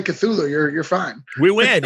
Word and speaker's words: Cthulhu: you have a Kickstarter going uh that is cthulu invades odds am I saying that properly correct yeah cthulu invades Oz that is the proper pronunciation of cthulu you know I always thought